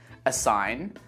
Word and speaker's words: assign: Let's move on to the letter G, and we don't pronounce this letter in words like campaign, assign, design, sign, reign. Say it after me.